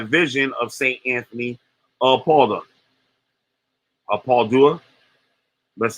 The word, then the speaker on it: Padua: Anthony of Padua. That's how you pronounce it. He was one of the most significant Portuguese saints. It's Padua, but you got it almost right.